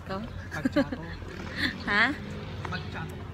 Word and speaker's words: macchiato: Macchiato. Macchiato daw. Parang pamato ah.